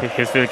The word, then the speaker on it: Hetfield: Acaba de decir Hetfield ahora mismo. Hetfield. La pronunciación correcta. Hetfield que está saludando a las masas.